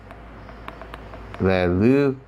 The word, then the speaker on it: λελυσθε: been loosed," λελυμεθα "you all have been loosed," λελυσθε [correct pronunciation -- "le-loos-the"] and "they have been loosed," λελυνται So let's say these forms again, altogether. Ready, 1, 2, 3. λελυμαι λελυσαι, λελυται λελυμεθα λελυσθε λελυνται